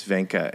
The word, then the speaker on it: Wenche: My wife's name is Venka. It's spelled Wenche, and you can imagine the creative pronunciations she gets with that.